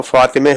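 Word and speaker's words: فاطمه: کی معنی کرتے فاطمہ۔ لیکن فارسی میں چونکہ زیر کا رجحان زیادہ ہے، زیر کی طرف جھکاؤ ہے گفتگو میں، تو فارسی میں فاطمہ جو ہوگا وہ فاطمے ہو جائے گا، فاطمے۔ جیسے کہ، بے، دیدے،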